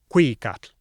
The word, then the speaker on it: Cuicatl: Oh, and they stressed the second to last syllable, Cuicatl, Hueyi Tlatoani.